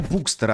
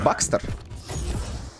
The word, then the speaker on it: Bukster: Никнейм читается как... не как Букстер, а как Бакстер.